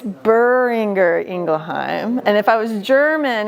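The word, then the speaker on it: Boehringer Ingelheim: it wrong so it's buringer ingleheim and if I was German any Germans in here no so if I was German there'd be a little bit of a more of an r guttural and I can't do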